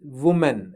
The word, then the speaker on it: woman: Yes, I know that it's singular form and plural form, but how do you pronounce it? This is woman.